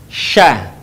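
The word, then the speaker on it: ش: kita melafalkan huruf Sya huruf Sya keluar dengan menyentuhkan Tengah lidah kita dengan langit-langit diucapkan mengalir udaranya dan mengalir pula nafasnya bahkan ketika melafalkannya menyebar nafas dan udaranya yang disebut dengan tafasyi perhatikan Sya perhatikan nafasnya menyebar Sya beda dengan tadi Sa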